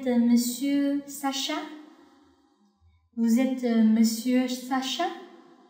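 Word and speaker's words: vous êtes: 法语里面，Vous êtes Monsieur Sacha？ Vous êtes Monsieur Sacha？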